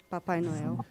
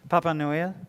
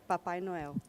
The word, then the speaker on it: Papai Noel: How do you say Santa Claus in Portuguese? Papai Noel. Papa Noel? Papai Noel.